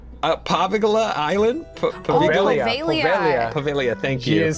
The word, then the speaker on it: Poveglia: Investigating the infamous Paviglia Island? Poveglia. Poveglia, thank She you. is silent.